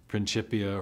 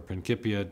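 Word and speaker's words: Principia: book written in 1687 the pipia or prinkipia depending on your preferred Latin pronunciations and um uh it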